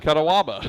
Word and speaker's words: Catawba: You know, we didn't tell Todd Hamilton how that's pronounced. The radio voice of Paducah. Catawba. He was putting an extra A in there, and I did see it spelled that way one time.